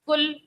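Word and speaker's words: قُل: قل، قل اور کل میں فرق کرنا ہے، حروف قریب الصوت کا خیال رکھنا ہے، قاف اور کاف میں ہم نے فرق کرنا ہے.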